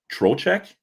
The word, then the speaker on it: Trocheck: is from the Rangers with, it's hard to pronounce his name, Trocheck?